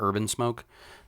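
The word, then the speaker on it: Herb N Smoke: He owns a food truck called Herb in Smoke, like HERB, N, the letter N, Smoke, pronounced like Urban Smoke.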